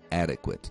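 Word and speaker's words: adequate: por exemplo de adequado em inglês a acentuação tônica normalmente é na primeira sílaba adequado em inglês é adequ na primeira sílaba Então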